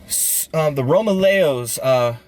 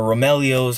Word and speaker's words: Romaleos: The Romaleos, for the Nike people, or Romeleos, however you want to pronounce it, the Romeleos have a similar heel structure to these.